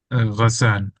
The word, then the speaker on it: Ghassan: is it Gashan or Gasan? Ghassan.